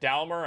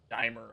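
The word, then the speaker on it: Daimler: to the dalmer here i think he said dalmer i meant dimer dimer i think is how it's pronounced either way um again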